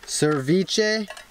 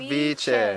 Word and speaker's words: ceviche: Just think of the V. Cevi. Ceviche. There you go. Ceviche. Cevi. And it's not spelled with an S, it's spelled with a C.